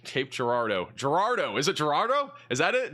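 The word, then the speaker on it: Girardeau: How do you say Cape Gerardo in Missouri? Cape Gerardo, Missouri. Cape Cape Gerardo. Gerardo. Is it Gerardo? Is that it? Gerardo.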